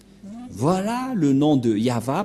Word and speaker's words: Yahvah: de yava et la prononciation de y h V he selon les hébreuxes c'est yava et personne ne peut